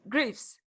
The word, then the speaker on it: Greaves: Yeah, you pronounced it correctly. Greaves.